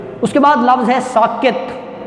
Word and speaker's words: ساکت: کے بعد لفظ ہے ساکت۔ سین کے اوپر زبر، کاف کے نیچے زیر، اور تے پر جزم، ساکت۔ اگلا لفظ ہے مباحثے۔ یہ